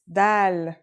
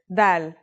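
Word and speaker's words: دال: our first letter is DAL it's just like the English D very easy to pronounce and easy to write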